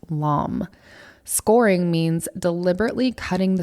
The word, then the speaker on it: lame: The word is spelled Lame, and yes, it is pronounced lame.